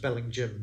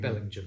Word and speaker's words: Bellingham: uh bellingen which is spelled Bellingham but pronounced Belling Jim because it's a northumbrian pronunciation so if you go